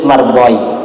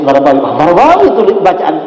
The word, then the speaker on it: Marbawi: Dan ketika saya masih kecil, saya biasa membacanya sebagai Idris Margoi. Karena tidak ada tanda vokal. Setelah tahun 2014, Kiai mengetahui bahwa Kiai yang membaca adalah Syekh Idris Marbawi.